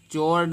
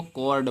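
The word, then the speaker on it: chord: इसी प्रकार से चोर्ड नहीं पढ़ेंगे, इसको कॉर्ड पढ़ेंगे।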